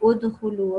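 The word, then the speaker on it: ادخلوا: So it will be udhulu, okay? So because we can't just say or something, you know, it just doesn't sound right. So we'll put a dhamma on top, and that way we ignore the noon, but we carry on with the rest. So you say udhulu, okay?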